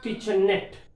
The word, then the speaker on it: kitchenette: Now, kitchenette, N above, net is the letter. Kitchenette, N above we have to stress.